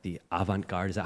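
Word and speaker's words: avant-garde: He's in the theater, like the avantgard. Is that how you say it, Alvin? Say something. Yeah. Avanguard.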